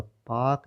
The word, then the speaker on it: Palk: तो आपको प्रोनाउंसिएशन लग रहा होगा पाक, जो पाकिस्तान से रिलेटेड है, तो ये दिमाग से कन्फ्यूजन निकाल दें।